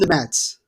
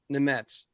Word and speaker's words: Nemec: It's Simone Nemec. Nemec.